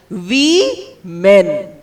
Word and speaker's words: women: first noun women pronunciation We Men We Men did you understand although it is written as wo it is pronounced as w e pronunciation is very important